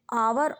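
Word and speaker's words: hour: इंकपोट N umbrella on आवर honest air से पहले एन का प्रयोग होता है क्योंकि इन शब्दों में एच का उच्चारण नहीं होता है और ववलू तो ये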